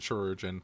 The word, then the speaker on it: Chirurgeon: Yeah, it's a weird way to spell surgeon, I believe. Yeah. But I do believe you still pronounce it Chirurgeon.